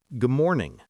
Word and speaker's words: good morning: When we say good morning, we do not pronounce the final D strongly. It sounds soft like good morning.